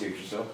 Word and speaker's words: Yggdrasil: Yggdrasil, yeah, okay, cool. And a Drill Sergeant. It's Yggdrasil. Was that right? Yeah, it is. It's Yggdrasil.